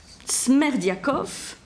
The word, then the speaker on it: Smerdiakov: Et il est le père illégitime, on dit, d'un 4e fils, donc un fils né hors mariage, qui s'appelle Smerdiakov. Smerdiakov, ça s'écrit comme ça se prononce, S-M-E-R-D-I-A-K-O-V, dont il fait son domestique.